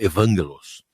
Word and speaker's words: Evangelos: Acaba de falecer, ele é grego e a pronúncia não é essa. O nome faleceu semana passada. O nome é outro pronunciado. É que Vangelis é uma espécie de diminutivo muito comum na Grécia para Evangelos.